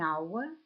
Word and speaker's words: hour: яблуко aneg яйце an hour година an Eagle орел в слові an перша буква H приголосна але вона не не читається а для нас має